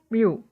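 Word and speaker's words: μ: Fk sama dengan mu k dikali dengan n, itu yang seperti huruf M itu dibacanya mu.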